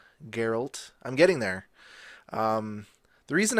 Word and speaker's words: Geralt: are there last episode Geralt with a G Geralt I'm getting there the